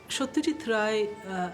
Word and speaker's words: Satyajit Ray: Satyajit Ray, I'm pronouncing his name in the Bengali way, was born in a